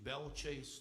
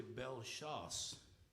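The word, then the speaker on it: Belle Chasse: like for instance uh we say a mispronunciation belchase Louisiana well that's really belas which means good hunting or P laash which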